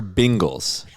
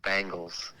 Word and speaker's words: Bengals: Is it Bengals or Bingles? It's Bengals. With an A? Bengals. No, there's an E, but it's pronounced Bengals.